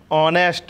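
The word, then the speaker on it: honest: तो इसमें क्या APN ऑनेस्ट मैन क्या लिखा है एन एस मित्रों इसमें क्या होता है कि एक साइलेंट रहती है जब तक यह शुरुआत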